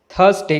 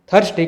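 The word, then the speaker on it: Thursday: तो ऐसी कंडीशन में जब आर किसी वर्ड के बीच में आता है और उसके पहले कोई वावेल लेटर होता है तो आर की साउंड नहीं आती है और साइलेंट हो जाता है इसे हम थर्सडे कहेंगे इसे हम थर्सडे कहेंगे हर्ष दे कहना गलत है इसी तरह से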